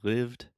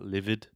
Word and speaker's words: lived: Say lived, not livid.